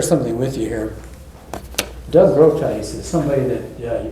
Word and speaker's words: Groothuis: I don't know what it's from, but it's it's pronounced Groothuis.